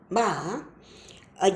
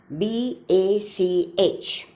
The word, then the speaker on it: Bach: and now the meanings ba means johan sebastian ba a german organist and composer of the 17th century baa is the german pronunciation of the word b a c h its english pronunciation is bach a shock of